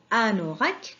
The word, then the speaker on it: anorak: Le mot Anorak commence avec la lettre A. A, non, la deuxième syllabe c'est non, c'est N avec O. Et la dernière syllabe c'est rak. A, non, rak, un anorak.